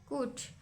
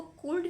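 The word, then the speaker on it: could: लग रहा है कि हम इसको कुल्ड पढ़ेंगे। बट यहां पर जो एल है ना वो साइलेंट। हम इसको कुड पढ़ते हैं। एल्स में साइलेंट है। लिखने में आ रहा है, रिटन है बट इसको प्रोनाउंस हम नहीं करेंगे।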